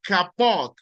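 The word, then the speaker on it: כבוד: La palabra honrar en hebreo se pronuncia kapot.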